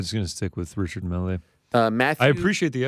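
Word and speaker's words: Richard Mille: than Richard mle oh Richard melee yeah I think I think it's the French name yeah so I'm probably just going to stick with Richard melee uh Matthew I appreciate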